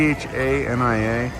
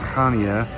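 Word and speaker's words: Chania: We're here in Hana. It's spelled C H A N I A. I've heard it said Hania. in Kanya.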